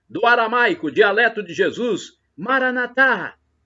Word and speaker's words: Maranatá: aramaico, dialeto de Jesus, Maranatá. É como pronunciamos nós católicos com a tônica na última sílaba. Ou Maranata, como pronunciam os nossos irmãos separados, os evangélicos ou protestantes. Não importa. Eles falam Maranata com a tônica na penúltima sílaba, mas são nossos irmãos mesmo separados.